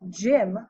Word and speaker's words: gym: In the word gym, we see that Y makes an I sound.